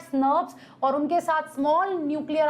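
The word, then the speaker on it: snRNP: small nuclear राइबोन्यूक्लियर protein which we pronounce eight स्नर्व्स, और उनके साथ स्मॉल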